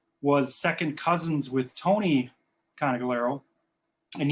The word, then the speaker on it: Conigliaro: My grandfather, Nicola Conigliaro, was second cousins with Tony Conigliaro. And you notice how I pronounced the name two different ways there. There's the Sicilian way which I pronounce it, and then the Americanized version.